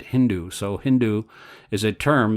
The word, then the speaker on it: Hindu: Sanskrit is called Sindhu the Muhammadans pronounced s as H instead of Sindhu they made it Hindu so Hindu is a